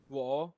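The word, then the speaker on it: 我: Wo third tone হবে।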